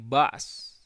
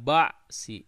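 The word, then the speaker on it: بأس: Ini bas ba's gitu ya. Wassabirina fil ba'sa'i wadh-dharra'i wa hinal ba's. Nah, begitu. Ba's. Jadi tidak ba'si tapi ba's.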